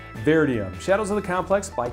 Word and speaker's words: Vertium: shadows of the complex I always pronounce that wrong I want to say Bert but it's bear diem shadows of the complex